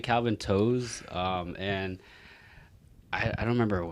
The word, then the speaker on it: To: My last name it's spelled T-O, it's pronounced toe, but then like...